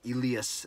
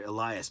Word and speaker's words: Elias: And we did find out that he does like to be called Elias, not Elias or Elias, but Elias Pettersson.